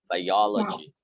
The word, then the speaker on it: biology: um biology yes biology but you have to stress the second syllable biology biology biology hello